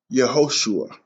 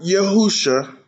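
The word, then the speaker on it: יְהוֹשֻׁעַ: makes an u sound ho ah yehoshua yehoshua not yahusha not your household not yahawah your joshua his name is yehoshua let's break that down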